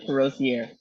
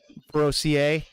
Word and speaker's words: Perossier: it up it's okay it's parochiere ferocia you can say it just like that I like it like that oh okay what will